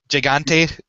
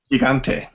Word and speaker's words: Gigante: king kodo um I'm I'm assuming you would pronounce it um gante Gigante Gigante yeah gante okay that's what I thought and pet and